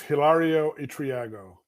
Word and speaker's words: Hilario Itriago: butcher all the names how do we pronounce your name sir it's not far out it's Hilario itriago Hilaria okay all right hilarious